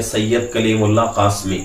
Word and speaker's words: سید کلیم اللہ قاسمی: ہیں۔ اور ہمارا چینل کا جو نام ہے سید کلیم اللہ قاسمی، میرے ہی نام سے جو ہے چینل جو ہے چل رہا ہے۔ اسپیلنگ جو ہے SAYYAD سید، اس کے بعد